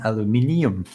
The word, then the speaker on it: aluminium: but in exchange the english people have to pronounce the i an aluminium this is why this